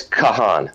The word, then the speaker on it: Kahan: So it's Kahan. Kahan. Got it. Kahan. Yeah, actually, they made sure we spelled it Kahawn, so everybody pronounced it correctly. But it's Kahan phonetically.